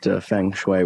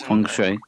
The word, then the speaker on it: Feng Shui: Laura about it and Laura knew exactly what Feng Shui was Fung Shui Fung Shui I can't believe I'm correcting your pronunciation of this thing I